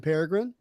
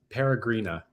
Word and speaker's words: Peregrina: Give me the correct pronunciation. It's Peregrina.